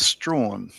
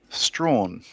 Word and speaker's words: Strachan: That would be pronounced Strawn. See, we've got Michaela Strachan, which is spelled very similar to that. Strawn.